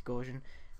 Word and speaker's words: Gaussian: think that's how you say it, yeah, it's Gaussian.